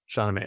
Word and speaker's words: Shahnameh: Shahnameh.